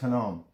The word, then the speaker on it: Hinnom: Hinnom, pronounced Hinnom.